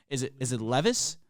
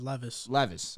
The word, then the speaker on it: Levis: Is it Levis? I think it's Levis. Levis. All right.